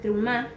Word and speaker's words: Terumá: La porción se llama Trumá, con una E que no se pronuncia, que significa ofrendas.